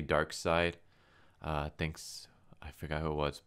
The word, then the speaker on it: Darkseid: pronouncing the name Ryan I keep like a pronouncing a dark seed but it's actually dark side thinks I figure out